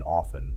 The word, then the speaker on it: often: Remember that t is silent in often.